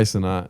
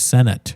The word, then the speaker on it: Cenat: Kai Cenat. Is that how you say it? Yeah, Kai Cenat. So I thought it was Senate.